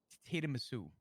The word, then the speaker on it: tiramisu: Spark note: the correct enunciation or pronunciation, I should say, of tiramisu is tiramisu.